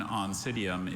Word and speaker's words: Oncidium: Perhaps the best known Oncidium is the yellow dancing lady orchid. Are there any alternate pronunciations?